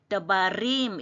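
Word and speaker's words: דברים: 달래 밑에 세로점이 있기 때문에 더바 더바림 이렇게 읽어야 돼요.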